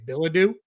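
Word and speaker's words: Bilodeau: Then Tyler I think you say Billadoo. Yeah is how you say that.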